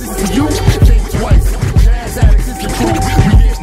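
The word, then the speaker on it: Jazz Addixx: Jazz Addicts, you can find them on Facebook. Look it up. It's Jazz, and then Addicts is spelled ADDIXX.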